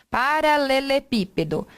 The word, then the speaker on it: paralelepípedo: Só que onde está a sílaba tônica? Paralelepípedo. Aqui. Então, última, penúltima, antepenúltima. Tá?